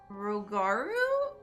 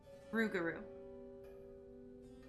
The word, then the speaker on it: Rougarou: Flood, some stories depict the Rogaru as scorned female lycanthropes who prey on children and devour ex-lovers. Hold on, we're looking up word pronunciation. Internet says Rougarou.